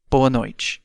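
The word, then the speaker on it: boa noite: have the evening greeting which in Portuguese is boano let's break it down by syllable B no and one time fast Bo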